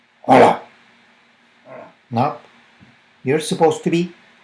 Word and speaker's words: hola: in Spanish you say hola hola and of course here you know something you don't say "jola, jola" we don't pronounce the H that's essential you just say "ola" and the key things